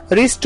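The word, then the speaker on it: wrist: नाउ the next word is रिस्ट, रिस्ट में पहला जो डब्ल्यू है वो साइलेंट होता है, उसे आर से रीड किया जाता है, रिस्ट।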